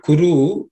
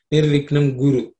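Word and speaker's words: कुरु: Sometimes people confuse the kuru with guru. One of the most popular shlokas where we chant it wrong is Vakratunda. Vakratunda Mahakaya Surya Koti Samaprabha Nirvignam Guru. Generally, many people chant Nirviknam Guru. Guru and Kuru are completely different.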